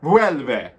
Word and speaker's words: Vuelve: Vuelve. I always have to say it like the lady does it on Google Translate.